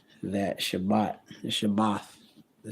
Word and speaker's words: Shabbat: and devote men 144 correct that Shabbat the shabbath the say Sabbath in the Hebrew is shabbath